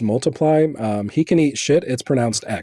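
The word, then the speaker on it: ×: anniversary of his album Wikipedia tells me that it's pronounced multiply um he can eat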